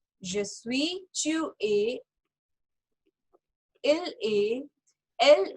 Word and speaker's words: suis: अब इसके अंदर लास्ट लेटर क्या है, एस, तो हमें इसको प्रोनाउंस नहीं करना। सो je suis, tu es, il est, elle est, nous sommes, vous êtes, ils sont, elles sont।